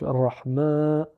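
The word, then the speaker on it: الرحمن: par la voyelle Alif en forme d'apostrophe donc Rahman ensuite il y a le avec le i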